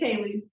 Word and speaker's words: Kayleigh: I know it's spelled weird, but it's Kayleigh.